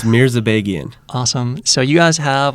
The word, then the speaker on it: Mirzabegian: Please pronounce it. It's Mirzabegian.